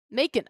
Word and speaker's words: Macon: Macon, I was right. It rhymes with bacon, according to Google.